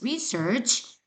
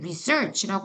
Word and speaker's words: research: This research 선생님이 왜 research라고 안 하고 research라고 읽었을까? 맞아요. research. 이거는 명사예요. 연구.